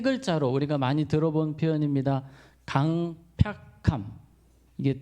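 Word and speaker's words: 강퍅함: 강팍함. 이게 좀 어려워요. 발음이. 강팍함이 아니고 강팍함이에요. 팍. 이게 괴팍할 팍.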